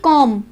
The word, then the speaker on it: comb: अगर M के बाद B लास्ट लेटर है तो हम उसको प्रोनाउंस B को साइलेंट बोलेंगे। टॉम, COMB, कॉम, लैम, थम, लिम और हनी कॉम, हनी कॉम। इसलिए हनी कॉम नहीं बोलेंगे, हनी कॉम, क्योंकि जो B है वो M के बाद लास्ट लेटर है, इसमें L के बाद M।